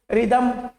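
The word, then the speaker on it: rhythm: अभी देखो रिदमम रिदमम तो एच नहीं आया यहां पे कहीं पे भी।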